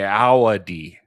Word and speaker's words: Ayoade: why I looked, but it says A I then O W A A D E E. That's how it lists the pronunciation. So, that's like A A Ayoade.